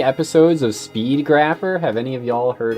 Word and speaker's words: Speed Grapher: Speed Grapher, 2005. Grapher like math. Yeah, Grapher like math. But I think it's graph like photography, actually.